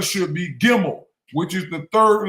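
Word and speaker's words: Gimel: The Hebrew third letter gimmel. Gimmel pronounces a hard G as in garden pronunciation as a consonant. It sounds like the English G in game.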